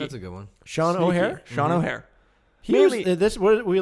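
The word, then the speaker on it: O'Hair: It's like O and then hair.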